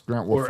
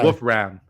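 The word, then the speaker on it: Wolfram: I should say Wolf Ram. Um, his bio says been there all year, but it's kind of like who? Yeah. His bio says, "Name is pronounced wolf ram.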